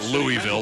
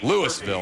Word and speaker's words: Louisville: Most people who are not from Ohio pronounce it Louisville, like the big city in Kentucky, but yeah, it's Louisville out there in Akron, right?